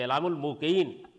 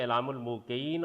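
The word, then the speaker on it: إعلام الموقعين: یہ کتاب جو ہے اس کے 2 تلفظ ٹھیک ہیں، اعلام الموقعین اور اعلام الموقعین۔ اس کی وجہ یہ ہے کہ ایقاع اور توقیع ایک ہی چیز ہے، مطلب ہے ملہمین یعنی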